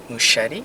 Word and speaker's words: Muschietti: I think Andy Muschietti, is that his name? Yeah, I think so. It rhymes with Steve Buscemi, something like that.